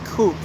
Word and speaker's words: co-op: uh harvard law co-op which the locals here pronounce as coup now in this series